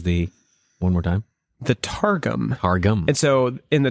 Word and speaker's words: Targum: The Targum is the Aramaic paraphrase of the Old Testament. So just in case I said it wrong a minute ago. I think you said TARDIS.